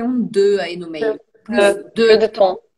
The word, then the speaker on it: plus de temps: Plus de temps. É, plus de temps. E aí pronuncia o S do plus por causa do de, tá?